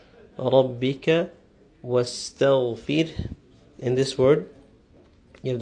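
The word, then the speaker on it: واستغفره: And also, by the end of the word, we have to pronounce a slight H sound, the ha sound. We don't stop at the ra, simply saying wastaghfir, but wastaghfir. A little breath should come out after the ra.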